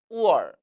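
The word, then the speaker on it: 味儿: 나아가 얼 이성 발음으로 성조가 안 나고 얼 경성 처리함에 다시 한번 주의하시기 바랍니다. 따라서 우얼, 우얼이라고 발음하죠.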